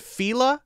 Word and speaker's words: Fila: balance balance and then f-i-l-a is fila i've heard fila and fila i've always said it as fila like la-la-la-la-la fila and the other ones